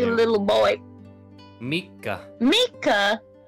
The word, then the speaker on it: Mika: like a little boy Mika Mika not Mike not spelled like Mike it's like come on Mickey Mouse a lot of people's